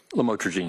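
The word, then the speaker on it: lamotrigine: about the u the lam otherwise known as lamatroine. Did I pronounce that right? Lamotraine.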